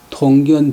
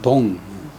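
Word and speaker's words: 洞: 무엇이 빗자의 보호가 통견 천하 대세지 달사가 아니겠소? 야자는 인문적으로 통은 개뚫물 통자인데 또 통견은 개뚫물 본다, 권이 본다. 개뚫다는 발음을 통, 골짜기 할 때는 발음을 동.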